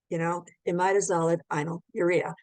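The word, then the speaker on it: imidazolidinyl urea: If you have trouble pronouncing these terms, just break them down. So you can say imidazolid inyl urea, imidazolid inyl urea. So it makes it much easier to pronounce it more rapidly once you learn how to break them down.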